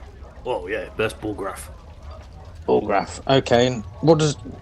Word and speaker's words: Bullgrath: Bullgrath. Oh yeah, that's Bullgrath.